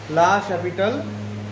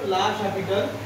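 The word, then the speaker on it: L'Hôpital: লাপিটাল। ঠিক আছে? তার নাম থেকে এসছে। তো হ্যা এটার উচ্চারণ লাশ হ্যাপিটাল।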